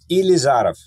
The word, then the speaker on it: Ilizarov: screw up the name I think it was ilizarov did all the almost correct how do you say it elizarov okay fine I close creger ker it's all